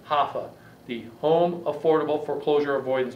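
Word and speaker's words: HAFA: believe it or not it's spelled h-a-f-a hoffa the home affordable foreclosure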